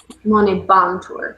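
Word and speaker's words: monēbantur: Monet Bantour. Would that be the proper emphasis? Monebantur, because B-A-N-T, two consonants.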